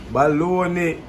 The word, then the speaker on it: bologna: Baloney. Eh? Yeah, it's spelled different.